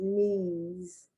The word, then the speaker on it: Nice: i have the word knees i know i'm not going to pronounce nice because n-i-c-e also means nice but when it's a city in france it's nice knees and you have to do